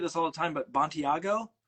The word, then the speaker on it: Bontigao: And I always, and you must get this all the time, but Bontigao?